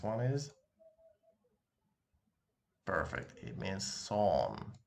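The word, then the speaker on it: сон: It means son. It's pronounced as son.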